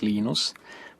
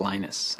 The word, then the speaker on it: Linus: I speak Finnish it's Lino's when I speak English its Linus and I really don't